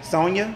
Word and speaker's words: Sonia: shop so maybe um how do I say her name Sony is it Sony okay however you say your name Sony okay yes see she said she would watch you Sonia okay Sonia would watch you every Monday